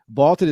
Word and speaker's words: VLTED: Vaulted is spelled VLTED, and it is the